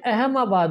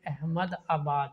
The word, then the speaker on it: अहमदाबाद: जिस तरह ये अहमाबाद बोल रहा था, अहमाबाद मतलब प्रोनाउंस ठीक नहीं कर रहा था। हम सोच रहे थे नाम ही अहमाबाद है, असल में अहमद आबाद है।